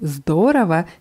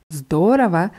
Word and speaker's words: здорово: Und dieses Wort здорово ist hier sehr schön betont. Здорово heißt super, klasse oder prima. Nur die Betonung ist wichtig auf der ersten Silbe.